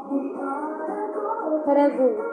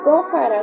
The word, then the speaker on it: Hara Gu: Jara Gould. Sí, pues así se pronuncia, porque muchos dicen Gojara, Gojara, no.